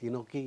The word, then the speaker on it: enoki: And there is one interesting mushroom I want to bring it to Indian conditions, is enoki, it's called. Enoki. Enoki. Enoki. Spell it, sir.